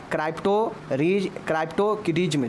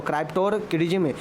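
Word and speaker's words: cryptorchidism: क्राइप्टोकिडिज्म। जी हाँ दोस्तों, क्राइप्टोकिडिज्म। तो ध्यान रखिएगा, इसको स्पेलिंग देख लीजिए, CRPTORCHIDISM।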